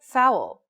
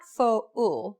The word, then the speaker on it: foul: It's not pronounced pa-in, but pain. Or the word foul. It's not fo-ul, but foul.